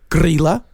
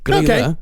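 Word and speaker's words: Grýla: These I know I'm actually pronouncing right. Okay. There is Grilla and Lepaluthe. Huh. Yeah. Grilla and Lepaluthe.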